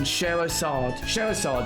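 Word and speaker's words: Scherazard: And Sherazad, that's how you say it.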